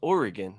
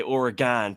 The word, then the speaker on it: Oregon: He goes, "Just so you're aware, it's pronounced Oregon." I'm like, "Yeah, that's what I've been saying." He's like, "Yeah, just don't be an idiot and say Oregon. People don't like that, you know."